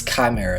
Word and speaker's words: Chimera: it's a silent I don't know but it's Chimera it's not you don't pronounce it Chimera or it's not spell with a K okay